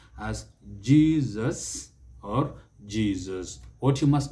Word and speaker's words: Jesus: some guideline on pronunciation mostly in english the letter s if it comes in between two vowel sounds it takes the z sound so it is jesus jesus but for this